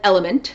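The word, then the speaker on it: LMNT: this product called element the company is lmn t but it's an element that's how they pronounce it and they make e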